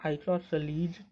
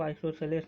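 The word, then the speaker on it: isosceles: इसको कई लोग आइसोसेलस भी कहते हैं। लेकिन इसको आइसोसेलस नहीं आइसोसेलस हम लोग कहते हैं। इसका प्रोनन्सिएशन मैंने यहां पर लिखा हुआ है। आप देख सकते हैं। आइसोसलीज़ तो इसको हम लोग आइसोसलीज़ ट्रायंगल कहते हैं। आइसोसेलस ट्रायंगल गलत होता है।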